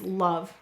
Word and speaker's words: love: The last word we'll analyze is love. Let's sound it out together. And actually, before we do that, we will say to spell love. Because do you hear a lazy vowel?